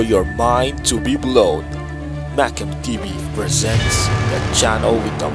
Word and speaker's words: MacamTV: So Macamtv, I'm sure that's how it's pronounced.